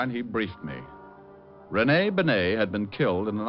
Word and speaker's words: Bennet: It's pronounced Bennet, not Benny.